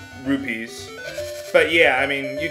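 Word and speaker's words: Rupee: and get those 30 Ruby tokens over and over and over again or rupe sorry I'm just pronouncing it too fast I know it's rupes but yeah I mean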